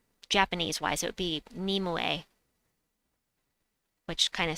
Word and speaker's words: Nimue: but death knight right this troop i've always pronounced as nimwei because that at japanese wise it would be nimue which kind of sounds like nimoy anyway but